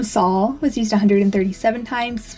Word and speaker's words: Saul: basil versus basil Um this can also be pronounced soul and I think if it does make its comeback it's going to be using the pronunciation Soul that's the Spanish and Portuguese pronunciation and it means Sun I would love to